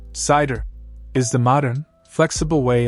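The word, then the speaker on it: CIDR: C pronounced cider is the modern flexible way of assigning IP addresses.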